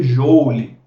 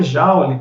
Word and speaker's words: Joule: Se você ler o nome dele em português, você vai ler Joule, né? Mas a galera fala Joule, porque a gente pegou emprestado aí essa pronúncia provavelmente aí das primeiras publicações em inglês que chegaram até aqui, e possivelmente as pessoas tiraram de lá essa pronúncia.